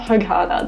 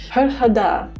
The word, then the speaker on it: Hurghada: As I understand it, I'm saying it wrong. It's not hug harder. That's like the most Australian motives thing on the planet. Herada is all about the